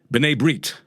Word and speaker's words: B'nai B'rith: The way to pronounce it in Hebrew for anyone who's interested, B'nai Brit.